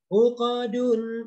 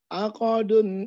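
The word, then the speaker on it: عُقَدٌ: Aqadun ikatan-ikatan. Pak, bacanya bukan A, tapi U. Uqadun.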